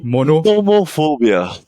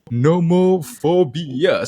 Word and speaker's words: nomophobia: How do you pronounce it again? Nomophobia. Nomophobia.